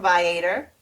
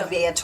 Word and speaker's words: Viator: I got my tickets, just for anybody who needs to know, from Viator. Okay. Oh, yeah. Or Vtor or however people pronounce it, but I say Vitor.